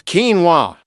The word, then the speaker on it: quinoa: It's quinoa, not KWIN-O-A.